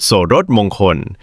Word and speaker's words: โสฬสมงคล: วัด สะพาน สูง ตะกรุด โสรสมงคล อ่าน ว่า ตะกรุด โสรสมงคล เป็น เครื่อง ราง ชั้น สูง ที่ มี ราก